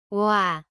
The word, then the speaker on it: 와: 와, 와, 와, Start with rounded lips for o and quickly move to the a position.